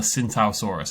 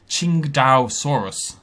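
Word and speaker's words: Tsintaosaurus: And I will try to hammer that into my brain, Qingdao, because it's based on a place, and that's how you pronounce the place name.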